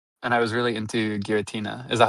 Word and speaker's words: Giratina: I went back and played Platinum later on, and I was really into Giratina. Is that how that's pronounced?